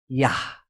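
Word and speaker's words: יה: berarti 10 dan 5 Yod dengan he ye dengan ha dibacanya yah Oleh karena itu kita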